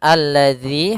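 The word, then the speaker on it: الذي: tersebut tidak dibaca kemudian alladzi hati-hati dalam pelafalan dalal di sini ada huruf Zal bukan huruf Zai ya kebanyakan kita kadang-kadang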